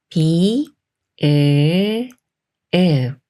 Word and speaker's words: ㅂ: 볼테니까 잘 들어 보세요 비 으 읍 읍 그래서 비읍 받침 소리는 읍에 가까운 소리였어요 영어 단어에서 비슷한 소리를